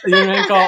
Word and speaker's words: Runyankore: How do you pronounce that? Runyankore? You've got it. You've got it. Runyankore.